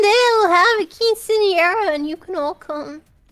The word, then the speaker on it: Quinceañera: Quinceañera. Quinceañera? Like that? Quinceañera.